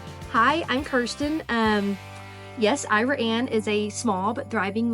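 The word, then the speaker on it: Iraan: check it out hi I'm Kiren um yes Ira Anne is a small but thriving little Community um the pronunciation is kind of unique it was named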